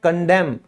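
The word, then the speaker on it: condemn: निंदा करना, बुराई करना, उसे हम इंग्लिश में कहते हैं कंडेम, ठीक है, यहां भी एन साइलेंट है।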